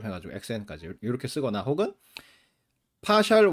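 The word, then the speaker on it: ∂: 저걸 읽을 때 파샬이라고 읽으면 돼요. 어떤 경우에는 라운드라고 읽기도 해. 동그라미 라운드 y 오버 라운드 xi 이렇게 읽는 사람도 있는데 대개의 경우에 파샬이라고 읽어요.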